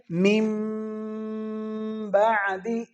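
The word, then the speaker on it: مِنْ بَعْدِ: تو اس کو پڑھیں گے میم بعدی. اب اس کے ہجے جو ہیں، ہجے ہم نے کرنے ہیں کہ میم نون میم میم زیر میم، اس میں نون نہیں پڑھیں گے، میم کو میم کے ساتھ ادغام کر دیں گے.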